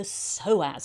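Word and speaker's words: psoas: picture we see the soaz it's kind of a funny name because it begins with a p but the p is silent the soaz muscles a lot of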